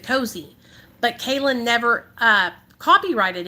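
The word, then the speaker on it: Kozeo: wants that name cos k-o-z-e-o and she pronounces it cozy but Kaelyn never uh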